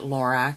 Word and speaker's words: Lorac: Some people may pronounce it Lorac. It's simply the creator of the company. Her name is Carol, and it's spelled backwards. So I pronounce it Lorac, but you can pronounce